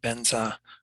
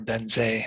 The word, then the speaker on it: vajra: And the syllable vajra that's in there we're pronouncing it the Tibetan way of benza or benze if it's got the e on the end.